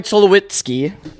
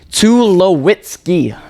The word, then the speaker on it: Tulowitzki: Troy Tulowitzki. Now, again, luckily Baseball Reference has the pronunciation Tulowitzki.